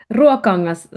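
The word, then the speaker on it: Ruokangas: How do you pronounce it? Ruakongas.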